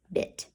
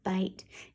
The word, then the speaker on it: bite: to write bit no we're trying to write bite so what do we need to change that I to a long I to a I like ice what do we need we need silence alright now let's read